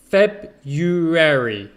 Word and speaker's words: February: it's feb you airy february february okay so forget the r forget that r after the b it's it's not necessary to say if you check on